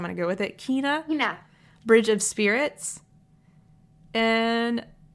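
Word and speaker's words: Kena: I always pronounce this incorrectly. Kenna Kenya Bridge of Spirits. Kenna Ka. Kina. Kina. That's it. It's Kina.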